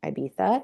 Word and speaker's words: Ibiza: And then in March, I plan to go to IMF, which would be my first time in Ibiza.